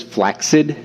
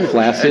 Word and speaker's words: flaccid: Do you know the the proper pronunciation of that is flaxid? Not not flaccid.